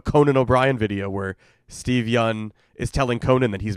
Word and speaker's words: Yeun: O'Brien video where Steve Yeun is telling Conan that he's been pronouncing his name wrong for 4 years before he told him. It was very funny. It's Steve Yeun. I got it now.